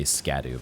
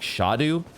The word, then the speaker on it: Scadu: It's spelled like you would say Scadu, but it's actually like Shadu, which is pretty close to Shadow, don't you know?